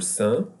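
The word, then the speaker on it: cinq: We can cancel the Q and the pronunciation. It will be Saint Décembre when the next word is starting with a consonant. But if you pronounce the Q, it will be correct. There is no any problem.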